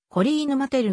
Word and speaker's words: Coline Mattel: 元スキージャンプ選手フランス語の発音ではコリーヌマテルが近い 2007 年 2 月